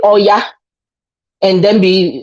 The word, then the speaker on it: Oya: Oya will be called Oya.